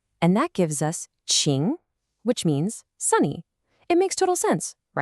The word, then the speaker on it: 清: You get ching, which means clean.